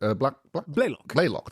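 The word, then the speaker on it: Blalock: was so it's going to be Jolene block Black Block that's it how you pronounce it yes she she she really carried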